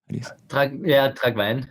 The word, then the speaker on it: Tragwein: Is it Tragwein? Is that how you say it, or Tragwein? Tragwein. Tragwein. You say it in Austrian or in German.